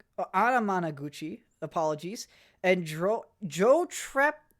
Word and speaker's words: Anamanaguchi: check that real quick oh my apologies I was saying the band name wrong uh Animan Gucci uh did some music for this uh let's see here uh it's an album from Lakeshore records with music from Anam Anamanaguchi apologies and Jo Joe